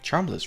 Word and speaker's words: Charmles: Calvius is so distinguished and handsome, while Charmles is just well charmless really. And you probably pronounce him Prince Charmless as well, but it's just with only one s, you know, if it